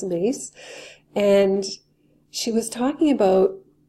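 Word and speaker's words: Myss: ago by Carolyn mace some people pronounce her last name mice but I heard her speak it as mace and she was talking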